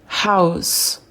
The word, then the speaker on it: house: Maison, house, house. Oui, il prononce bien le H soufflé, ha, ha. Et le S, s, house.